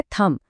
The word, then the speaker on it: thumb: LAMB है lamp, THUMB है थम।